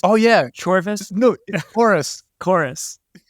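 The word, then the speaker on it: Chorvs: it's actually chorus chorus the V is pronounced like a u like in medieval English or something so I I picked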